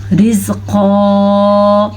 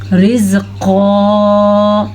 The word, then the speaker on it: رزقا: اچھا جی، را باریکی سے پڑھی جائے گی کیونکہ را کے نیچے زیر ہے اور موٹا قاف، قاف موٹا ہی پڑھا جائے گا کیونکہ حروف مستعلیہ وہ حروف میں سے شامل ہے قاف جو پر پڑھا جاتا ہے.